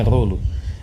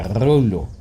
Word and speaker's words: Rollo: Os dois L's são pronunciados. Não é como se um fosse mudo. Não é rolo. É rollo.